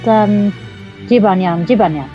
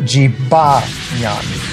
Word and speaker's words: Jibanyan: Basically, in Japanese you pronounce it Jibanya, but in English you pronounce it Jibanyan. Basically, you emphasize on the ba.